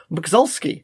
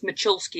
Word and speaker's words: Moczulski: there but i believe her last name is pronounced mcsulski how'd i do nearly the cut and the sir are a z make her church so it's machulski it's polish okay macholsky okay but it is hi hi and